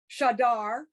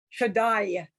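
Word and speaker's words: שדי: When you have the ah vowel followed by the yud, it goes I. Now I'm Okay. exaggerating to emphasize. So the ah followed by the yud becomes I. Shaddai.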